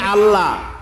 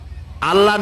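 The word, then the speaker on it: الله: করতেছেন আমি কি বলতেছি যদি বলি আল্লাহ তাহলে এটা অশুদ্ধ আল্লাহর নামটা হচ্ছে আল্লাহ বলতে গিয়ে মুখটা গোল হয়ে যাবে বলেন তো আল্লাহ মহব্বত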